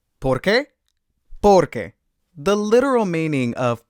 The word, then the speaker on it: porque: So why is porque, because is porque. So the stress is on different parts of the words. Porque, porque.